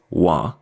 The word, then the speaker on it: want: actually for this word we usually just drop the T at the end add an extra a and pronounce it wah you will see some